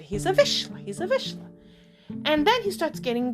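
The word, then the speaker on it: Vizsla: I couldn't even say I finally learned how to pronounce it correctly visha so I'm like oh I have a visha everyone everyone's like is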